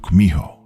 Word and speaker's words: Kumiho: In Japanese, you've probably heard of it as Kitsune, though in Korean, it's pronounced Kumiho.